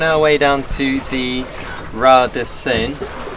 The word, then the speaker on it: Raz: We're on our way down to the Ras de Seine, written Raz but pronounced Ra apparently.